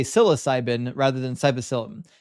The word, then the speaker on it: psilocybin: Not cycllin. Yeah, I I those two syllables up a lot or those two uh parts of the word. Psilocybin, not cycllin.